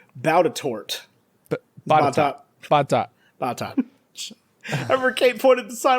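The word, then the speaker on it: Botetourt: next county over, it is spelled Bautatort. Batat.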